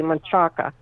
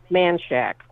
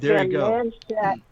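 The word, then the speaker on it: Manchaca: you a prime example it's spelled m a n c h a c a which the correct Spanish pronunciation pronunciation would be machaka well you know how Texans pronounce it manshack it's manack it's been manshack as long as I've been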